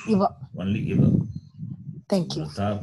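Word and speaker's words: इव: So, Guruji, is that Rutha plus Eva or Iva? A short E or long E there? There is no word Eva. Only Iva.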